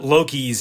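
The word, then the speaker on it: LOCIs: it does not but loki's and law school missions are pronounced like the norse god loki so there was a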